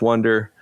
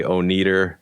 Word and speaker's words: Oneder: i'm okay with that so the correct way is wonder if you want to say oh neater like i get that